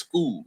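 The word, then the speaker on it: Schull: Uh, and uh, we pronounced his name wrong the whole the whole time and not skull. It's school. School. School.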